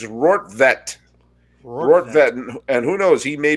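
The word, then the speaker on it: Rortvedt: of planet earth and there they have the pronunciations it's rort vette and who knows he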